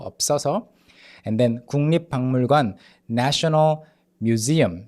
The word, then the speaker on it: 없어서: 없어서. The pitch is like kind of higher in the second syllable. 없어서.